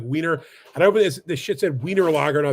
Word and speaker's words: Wiener: you know Vienna right Vienna in German it's Vienna is is a w instead of a v so it's like wiener and I open this